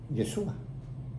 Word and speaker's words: Yeshua: El nombre correcto de Jesús es Yeshua.